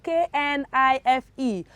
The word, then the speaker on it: knife: where that is obvious for the first one we have k-n-i-f-e how do you pronounce that children knife right of course i'm sure no one pronounced that as knife no nobody okay to the next one